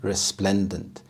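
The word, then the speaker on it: resplendent: ideal hunting ground resplendant resplendant the stress is on the second syllable resplendant this means dazzling or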